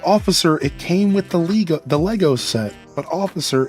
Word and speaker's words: Lego: The S is silent.